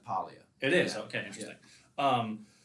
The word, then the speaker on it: Paglia: yeah yeah yeah yeah is it pronounced pallia i found that i i said paglia forever and i found out it's polya it is okay interesting